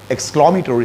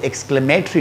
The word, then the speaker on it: exclamatory: Class, उम्मीद करता हूँ कि आज के क्लास में एक्सक्लामेटोरी सेंटेंसेज के हवाले से आपने कुछ ना कुछ ज़रूर सीखा होगा. इसकी जो प्रोनाउंसिएशन है ये एक्सक्लेमेटरी नहीं है, एक्सक्लामेटोरी, एक्सक्लामी स्ट्रेस को देखिए, एक्सक्लामेटोरी.